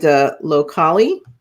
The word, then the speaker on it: Locali: And Locali, that's how you say it.